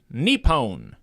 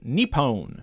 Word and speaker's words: Nippon: I have been chastised by a friend on my pronunciation of Nippon. Nippon. Oh. That's how you pronounce it. Nippon.